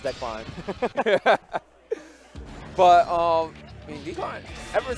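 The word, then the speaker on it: Dekline: That sounds like Decline. Maybe it is pronounced Decline.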